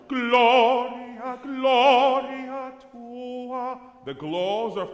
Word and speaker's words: Gloria: Good, what's the emphasized syllable here? Glo, right? Gloria, Gloria tua.